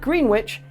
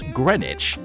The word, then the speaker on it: Greenwich: And Green Witch is actually Greenwich. Billy, you're going to die a virgin. That's Greenwich. Oh, of course it is. That's why there's two E's in it.